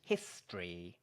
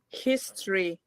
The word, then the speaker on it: history: that the word history if you want to sound like a native I recommend you do it in two syllables like this history okay history very good how azex